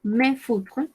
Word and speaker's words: mes feutres: Yo digo mes feutres. ¿Sí? Mes feutres. Mis marcadores. Acá estoy diciendo mis marcadores. Recordemos que no pronunciamos la S de acá ni la S de acá. Mes feutres.